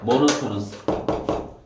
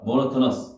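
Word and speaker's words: monotonous: 모노토너스 모노토너스 어디에 허리야 따라해 봐. 모너토너스 모너터너스 어디예요?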